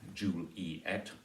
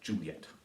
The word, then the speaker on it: Juliet: names Romeo and Juliet can be either three syllables or two syllables depending on how you choose to pronounce that it can be Romeo